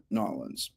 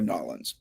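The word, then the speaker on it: New Orleans: to our friends in Nollins. That's how you say it here in America. Nollins.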